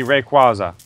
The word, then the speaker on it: Rayquaza: I know but I always heard it proper pronunciation would be Rayquaza we're also well I was about to say